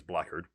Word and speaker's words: blackguard: We have Pete Davidson as Blackguard, or Blackguard, but I believe that's normally pronounced as Blackguard.